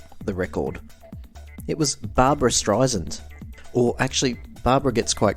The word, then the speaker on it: Streisand: It was Barbra Streisand. Or actually, Barbara gets quite cranky about the pronunciation of her surname. It's Streisand. I don't understand what's so complicated. It's Streisand. Sand. It's in the word.